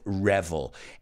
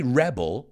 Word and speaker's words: revel: So let's rejoice and revel. And I didn't say rebel, like rebelde. I said it with a V.